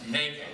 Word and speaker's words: NOCD: Now, the acronym for that is NOCD, which Kate says is pronounced NACO. I'm not sure how she got there, but she's a lot